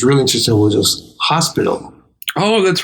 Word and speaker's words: hospital: It would be hospital. Almost. Hospital. No, very close. But you know where your mistake was? What? So the H is hardly ever pronounced in Spain. Oh, okay. It's called an aspirated H.